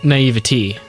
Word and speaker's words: naivety: Well, if you think of every other word, like obesity or stupidity, like it always ends in E, not A. Like naivete. So you'd say naivety.